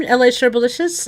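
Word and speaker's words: Elle Sherbalicious: technically oh and uh I'm La Sher bolicious if you're new to the living room uh that's how you pronounce my name and uh uh welcome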